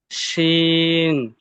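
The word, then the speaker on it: ش: পড়তে হবে এবং শাসা আওয়াজে উচ্চারণ হবে।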